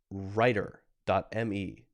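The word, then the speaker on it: Rytr: see here that we have a website called writer.me this is spelled r-y-t-r dot m e okay and there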